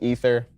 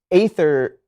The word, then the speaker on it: aether: going to summon some ether I want the Allies uh wait it's pronounced ather not like ether so do you guys